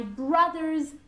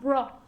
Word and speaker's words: brother: It's pronounced as if it had an A. Brother, okay? Brother, not bro. It's an A sound, brother. Okay?